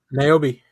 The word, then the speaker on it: Niobe: how do you say her name? Niobe. Nairobi, yeah, Niobe.